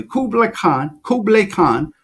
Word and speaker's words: Kublai Khan: It's so deep that I read that Kublai Khan, you have to pronounce his name correctly, Kublai Khan, who was the Khan of all Khans.